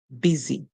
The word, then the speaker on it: busy: a song for it you hear B then you hear is like the word is and then you hear e busy the why at the